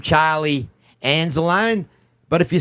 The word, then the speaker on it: Anzalone: I can say his name, Charlie Anzalone, but if you say it the correct way, Charlie Anzalone, would you welcome to the podcast?